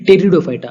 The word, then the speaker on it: Pteridophyta: example है profit कर दो कि दिग्विजय मिस्त्री टेरिडोफाइटा अभी यह क्या है जैसे मैंने आपको पहले